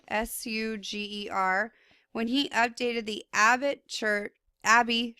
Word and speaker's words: Suger: Okay, so first of all, the development of Gothic architecture began with the abbot Suger, Suger, when he updated the Abbey Church of Saint Denis. It's spelled Denis.